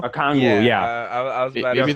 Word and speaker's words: Okongwu: Oniko Okongwu. Okongwu, yeah.